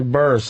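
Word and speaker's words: Burress: Oh, yeah, that's the How do you say Barras? Yeah, Burris.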